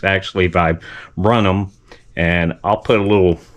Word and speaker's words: viburnum: I mispronunciated uh this actual bush. It's a a vibranium. I called it a vibranium. It's actually vibrum.